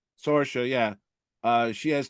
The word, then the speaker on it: Sorsha: Sorsha. Sorsha, yeah.